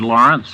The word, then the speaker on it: Laurents: Brave by Arthur Lawrence the author pronounces his last name like gertude Lawrence or Lawrence of Arabia but he spells l a u r n TS however